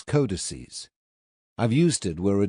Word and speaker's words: codices: It is pronounced codex, and its plural is codices.